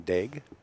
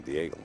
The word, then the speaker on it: Daigle: big huh take dig that's how you say it I've been saying Diego for a long time dig what do